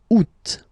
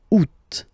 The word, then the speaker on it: Août: The first one, you don't pronounce the final T. Ou. Second one, you pronounce it. Août. Août.